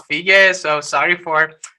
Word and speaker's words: Fiege: So thank you for spelling the Fiege, and it's not Fiege as I said, it's Fiege.